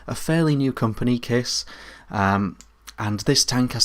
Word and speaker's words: Kaees: uh Landmark clearomizer from Kiss uh it's spelled k a e e s uh but it's pronounced kiss uh so it comes